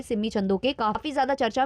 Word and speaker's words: Chandok: कुछ लोगों ने बताया कि जो उनके सरनेम का प्रोनाउंसिएशन है वो है सिममी चंदोक नॉट चंदोके। तो जो भी है आप लोग मुझे करेक्ट कर देना कमेंट सेक्शन में।